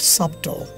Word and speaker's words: subtle: the next one is subtle oh subtle not subtle okay i was going to say that subtle and here and the silent letters are b and e yeah b and